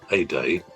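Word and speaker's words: aider: Now, the verb uh to help is like a a day. E R is at the end is spel pronounced a.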